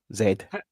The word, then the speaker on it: Z: Z isn't pronounced Z in England. How's it pronounced over there? Over by you, Finnbar. We pronounce it correctly over here. Zed.